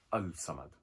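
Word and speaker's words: الصمد: Now, if you look at the word Samad, we're looking at Al-Samad. If you look at how it's spelled, Alif, Lam, Sad, Mim, Dal. But when we say it, we ignore the alif and lam.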